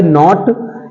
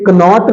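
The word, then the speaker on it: knot: है योद्धा अगला है नॉट इसे कनॉट नहीं बोलेंगे के एन ओटी कनॉट नहीं है नॉट है नॉट मतलब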